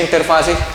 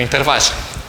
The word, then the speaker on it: interfaz: Y no se dice interfase, sino interfaz. Eso lo enseñó el profe Gerley Casanova, maestro en el tema, entre dos fluidos. Es interfaz con Z.